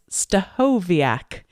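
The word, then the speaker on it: Stachowiak: you so much and for anyone listening that's always wondered how the heck you pronounce my name it's stovak and my husband Dave works for Dale Carnegie training and he always says we should picture us cooking which is hard to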